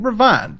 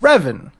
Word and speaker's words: Revan: I was pronouncing it Revan, but it's actually same here. Revan.